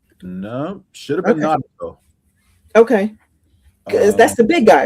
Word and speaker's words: Naruto: No, should have been Naruto. Okay, that's the big guy, right? Who? Naruto.